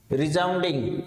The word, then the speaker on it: resounding: Next देखिएगा रिजाउंडिंग। यहां पर आप ध्यान दें प्रोनाउंसिएशन में थोड़ा सा, ये जो स है इसकी ध्वनि जय की आएगी।